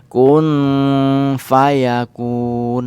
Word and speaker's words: Kun Fayakun: Seperti apa Gom ya dibaca Kun terlebih dahulu tapi jangan lupa berdengung Gom Aku kemudian samar di belakang Kun Fayakun Nah kalau sekilas seperti Kung Fayakun tapi sekilas juga terpetik Kun Fayakun bahkan nyawa ini perlu